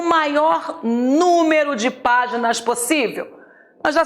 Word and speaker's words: número: para você lembrar que número é um proparoxítona e como todo proparoxítona o acento É obrigatório e o acento cairá na anti penúltima sílaba última me é penúltima